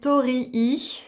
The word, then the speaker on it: torii: Je crois que ça se prononce Torii, c'est un mot japonais, ça représente un portail entre le monde matériel et spirituel.